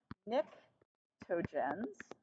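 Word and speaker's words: pnictogens: 15 is called the nictogens PN and the only reason I really like that is because it's got a silent P how many words got a silent P that's pretty awesome Nick tojens but I didn't even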